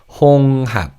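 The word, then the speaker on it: 홍합: And this in Korean is hung. Now in fast speech, the he in the second syllable is almost silent. So it sounds like hung up.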